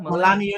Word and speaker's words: Melania: over is that how you say her name melania melania trump yes the best it's like she picked